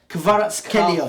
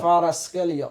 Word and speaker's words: Kvaratskhelia: It's syllables, man. Kavara. Nah, like, alright. Alright, forget that. Kvicha, Kvaratskhelia. Kvaratskhelia.